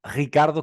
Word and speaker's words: Ricardo: Bueno, don Ricardo Cataluna, es la primera vez y la única que lo voy a pronunciar bien tu nombre, porque ya sabes que me cuesta horrores meter esa R portuguesa, ese Ricardo.